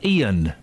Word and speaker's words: Iain: Why don't you pronounce your name if there's a second I? Because it's pronounced Ian.